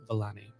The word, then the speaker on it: Vellani: And then I forget how to pronounce her last Vellani. Vellani.